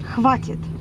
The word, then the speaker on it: Хватит: Without A after the H. Хватит.